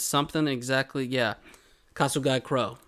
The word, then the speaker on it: Kasugai: it's something exactly yeah castle guy crow castle guy crow okay that's how i would say because there's an i at the end um but yeah and